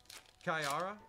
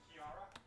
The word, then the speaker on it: Kayara: the follow appreciate you pronounced correctly is kayara kayara is that is that how you say it Kara no it's kayara we have dunpar puetar